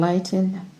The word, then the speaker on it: Lytton: I'll spell Bulwer Lytton, B-U-L-W-A-R, and Lytton, or Lytton, L-Y-T-T-O-N, and his novel is spelled Z-A-N-O-N-I, Zanoni.